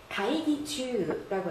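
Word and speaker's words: 会議中: 그런데 추라고 읽으면요, 범위 안에 있거나 진행 중임을 나타내요. 가이기추라고 하죠.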